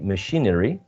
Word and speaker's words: machinery: right so machine and when we say machinery machinery it's still the same um second syllable the one which is